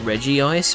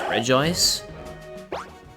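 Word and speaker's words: Regice: I I pronounce it Reggie ice, but apparently the official pronunciation is re ice, which I'm not the biggest fan of.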